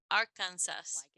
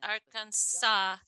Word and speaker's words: Arkansas: Si ven esa palabra impresa, yo creería que se dice Arkansas, como se ve, como se escribe, pero eso no es correcto. No es la pronunciación correcta, es Arkansas, como si terminara con W.